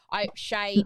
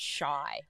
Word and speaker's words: Shai: Shay, my poor daughter's name is spelled Shai, and she gets shy all the time.